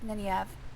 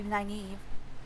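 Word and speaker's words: Nynaeve: supposed to be like ninev. It looks like naive to me. Wait, no, other way around. I've always pronounced it ninev. I think it's actually supposed to be naive. It's like that's weird.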